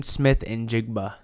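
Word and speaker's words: Smith-Njigba: Seahawks did yeah you can go ahead and pronounce that all you wanted Jackson Smith it's uh Jackson Smith and jigba and jigba great pick so they got him receiver they got him a 20.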